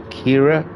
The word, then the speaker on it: Chiara: yeah this good area Kira I think is how it's pronounced Chiara Chiara so that someone did